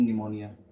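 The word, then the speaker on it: pneumonia: have silent P इन निमोनिया निमोनिया में पी क्यों silent है यार हम निमोनिया तो डायरेक्ट कैंसर लिख सकते हैं पर पी साइलेंट क्यों रहता है अभी जानने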